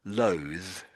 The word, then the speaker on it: loathe: there are actually two two types of the th sound. um is complicated and it probably won't help to go into it now, but maybe if I just mentioned they exist. So, we just had the word loathe. Loath and the th is here.